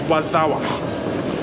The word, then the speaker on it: Warszawa: So the Polish pronunciation of Warsaw is Warszawa.